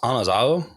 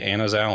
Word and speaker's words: Anazao: So it's technically pronounced Anazao because there isn't like an eh sound in like the Koine Greek, which is really difficult. So we pretty much all say Anazao anyway.